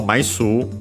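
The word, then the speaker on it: 枚数: And so Maisu, by the way, accent on the su, so be careful, it's an exception because technically it's a Chinese compound, is literally the number of flat things.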